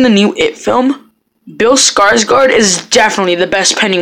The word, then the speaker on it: Skarsgård: pretty cool um I have Sarah now bill skarsgård I believe is how you pronounce his name he was incredible incredibly awesome